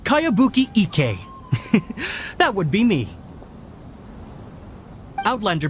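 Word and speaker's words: Kayabuki Ikkei: of it by cowabunga icky this is a really strange name who's this cowabunga it's pronounced kaiabuki ek that would be me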